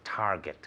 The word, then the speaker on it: Target: good very good so Target with a hard G Target can you say